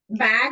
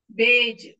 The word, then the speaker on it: beige: It's Sorry. not bag. Beige. Beige, yes. Beige.